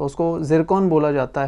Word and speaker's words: Zircon: बात कर रहे हैं उसे इंग्लिश में और हिंदी में दोनों में ही जरकन बोला जाता है जिसकी स्पेलिंग जेड से शुरू होती है तो उसको जरकन बोला जाता है इसकी